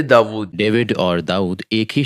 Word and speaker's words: داؤد: میں نے صرف اس کا تلفظ بدلا ہے, ڈیوڈ سے داؤد.